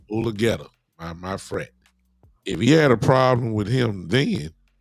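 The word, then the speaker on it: Mulugeta: So if Jerry had a problem, so quote unquote, with Dave Mulgeta, or how you pronounce his name? Mulgeta, my friend.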